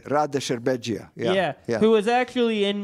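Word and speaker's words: Rade Šerbedžija: Rade Sherbegia.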